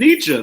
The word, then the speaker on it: Nietzsche: you're talking about nature that's why it's named nietzsche that's how it's pronounced yeah okay here it is n i